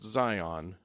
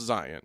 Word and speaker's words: Zion: And this is Utah, so it's not going to be pronounced Zion. It's going to be pronounced Zion. Zion. Because that's how we pronounce it.